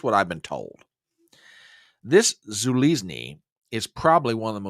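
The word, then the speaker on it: Zaluzhnyi: between President and popular Commander Val and it's pronounced Zulus okay now I don't know much about about Ukrainian politics or Ukrainian generals or whatever else but here's what I've been told this Zuli is probably one of the most popular military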